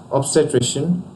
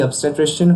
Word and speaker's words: obstetrician: In its pronunciation, there's a stress on trish syllable, and here's a usage. Not only did Allen perform abortions, he was also the obstetrician who delivered Karen Santorum.